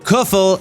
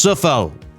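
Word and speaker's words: Coufal: But Kuffel is pronounced Suffel. Go and Google it.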